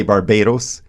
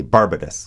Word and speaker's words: Barbados: That's how they say it. It's Barbados. They say Bar- We say Barbados, but they say Barbados.